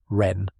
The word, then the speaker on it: Ren: Pronunciation Ren, like pen.